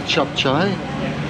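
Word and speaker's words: capcay: Well, it's spelled C-A-P-C-A-Y. It's K, but it's chop chai.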